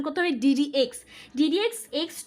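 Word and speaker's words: d/dx: এটাকে ডিডিএক্স বলে, ডি ভাগ ডিএক্স বললে হবে না, ডি ভাগ ডিএক্স বা যে কোনো কিছু বললে হবে না, এটাকে উচ্চারণ করতে হবে ডিডিএক্স।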